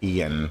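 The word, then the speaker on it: Ioan: It's I-O-A-N, I believe he's Welsh. I think it is like, but I do think you pronounce it like Ian.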